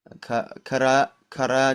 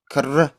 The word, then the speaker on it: karra: Karaa cufi. Not kara. Karra cufi.